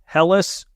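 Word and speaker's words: Hellas: so relatively okay not only that it is helis Matrix Turf all right of course everybody knows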